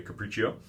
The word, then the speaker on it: Capriccio: that's how you say it by the way Capriccio this is one of my favorite level one